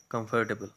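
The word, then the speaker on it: comfortable: दो सिलेबल इसमें नहीं कहने आपने, टोटल 3 सिलेबल है इसमें। कंफर्टेबल लोग अमूमन कंफर्टेबल पढ़ते हैं, तो 4 सिलेबल कह देते हैं, नहीं, करेक्ट प्रोनाउंसिएशन इज़ कंफर्टेबल।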